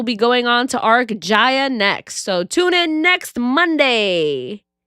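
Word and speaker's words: Jaya: The name of the next arc is called Ja, pronounced like Maya.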